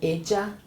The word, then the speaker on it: ella: This one is the same this double L here, the same pronunciation of this one, okay? So you can say, again, you can say ella, ella, okay?